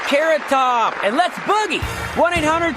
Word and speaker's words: Carrot Top: The next skaters are C top and pay phone. It's pronounced carrot top and let's boogie.